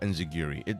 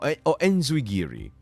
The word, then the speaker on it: enzuigiri: Enziguri. Yes. Or enzuigiri. But I consider both pronunciations valid.